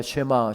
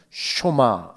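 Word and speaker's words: שְׁמַע: 쇼바 슈레 이스라엘아 들으라 흔히 우리가 쉐마 세마 이렇게 합니다만은 정확한 법 발음은 슈마 입니다 쇼바 이스라엘아 들으라 라고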